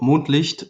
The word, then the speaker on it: Mondlicht: us um our studio moonlight studios it's german pronunciation because the background story